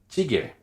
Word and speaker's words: 찌개: 찌개, 찌개, 찌. C'est la soupe coréenne que vous connaissez, comme kimchi jjigae, doenjang jjigae. Donc, encore une fois, tendu sans souffle.